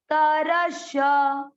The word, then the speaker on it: विस्तरशः: में अ आएगा, विस, विस्तरश, विस्तरश, अलग अलग बोलना है। देखिए विस्तरश। आगे क्या है? विसर्ग। तो श में अ की मात्रा है तो विसर्ग को पढ़ेंगे ह। विस्तरशः, दैवो विस्तरशः, दैवो विस्तरशः।